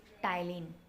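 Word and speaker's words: ptyalin: टाइलिन भी कहते हैं आल्सो कॉल्ड टाइलिन यहां पीस साइलेंट है बेटा ठीक है फंक्शन ऑफ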